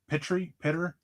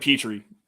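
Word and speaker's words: Pitre: Lewis Sine, Jalen Pitter. I'm not sure how to say the last name. It's Jalen Petrie.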